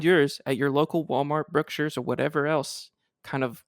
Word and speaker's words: Brookshire's: hear anybody sending an email saying that I'm pronouncing Brookshire's incorrectly because I am a Texan Brookshire's is